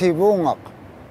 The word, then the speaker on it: Sivuqaq: Lawrence Island, Sivunga, Alaska, originally pronounced Sivungok.